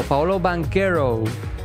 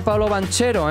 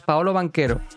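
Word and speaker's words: Paolo Banchero: lo pronuncio mal recuerdo Paolo banquero fue nada de Pablo banchero eh que algunos escuchaba así y yo era el primero que te lo decía sin un principio es Paolo banquero vale seguimos segundo equipo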